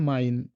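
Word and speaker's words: mein: আপনারা যদি ভাই বলেন সেক্ষেত্রে কি হচ্ছে ভাই, আই মানে আই উচ্চারণটা হচ্ছে যেমন এখানে আমরা ২ টো এক্সাম্পল নিয়েছি মাইন, মাইন।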